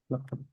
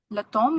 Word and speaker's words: l'automne: For l'automne, is it me in the end or is it no in the end? Like, how do we pronounce me or no? L'automne or L'automne. L'automne. There is French speaker who say l'automne. Okay. There is who say l'automne. But for me, I say l'automne with the N.